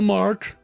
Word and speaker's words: Marc: that name twice because you pronounce mark with a K and Marc with a see the same way so that's weird anyway he's captain the ship Carlo gardener T gardener mr.